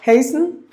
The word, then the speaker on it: hasten: Like either you can pronounce it like hasten, like SN together, or another sound. That sound is called the schwa. We can put the schwa in between and then you can pronounce it. So hasten or hasten. Look at the difference. Hasten or hasten. Hasten. Either you can just say it as 1 syllable or 2 syllable.